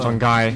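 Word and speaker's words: Shanguy: Alors il y en a qui disent Shanghai, Pourquoi? parce que ça s'écrit S-H-A-N G-U-Y. Ah, Shanghai.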